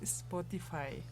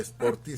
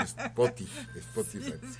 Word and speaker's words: Spotify: Creo que aquella vez lo pronuncié mal pero bueno, es Spotify. Creo a pronunciarlo correctamente, profesor. Sí, hizo la corrección nuestro amigo César Correa, que no era Sporty, sino Spotify.